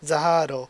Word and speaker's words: Zahard: of a difference like phonetically it'd be like zahado so it's like whether